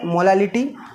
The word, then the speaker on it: molality: तो मोलैलिटी और मोलैलिटी काफ़ी मिलता जुलता है, नाम से भी सुनने में लगता है, बस यहाँ पर L है, प्रोनाउंसिएशन में L है मोलैलिटी।